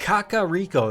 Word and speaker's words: Kakariko: Kakariko, that's how you say it.